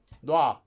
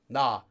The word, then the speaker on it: 놓아: can become either 놓아, but this is most often pronounced quickly in Korean and also spelled as just 놔, as one word. And in fact, Koreans will sometimes even go further and just say it almost like 나, though it's not quite this strong.